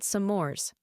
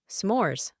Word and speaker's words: s'mores: graham crackers and chocolate they're called sores Michael chuckled s'mores one syllable I wish to try